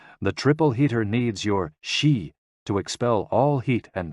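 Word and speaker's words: xi: the spleen and x-i pronounced like she which connects the whole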